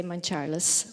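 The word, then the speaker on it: Mountcharles: Yes, locals would say Mount Charles.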